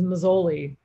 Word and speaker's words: Mazzoli: say your name I you have the American pronunciation which is Mazzoli but it's you know